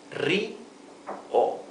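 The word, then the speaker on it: río: difficulties to pronounce it, you can pronounce first the first syllable ri and later o. Ri, o, Rio. The accent is always where the tilde is, right? This word has a tilde, so we know that the pronunciation is Rio.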